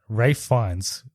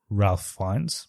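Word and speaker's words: Ralph Fiennes: it's like a Enigma that name rough because it's spelled completely different to the way you say it because I always thought it was Ralph finds but it's Ray fines right yeah yeah of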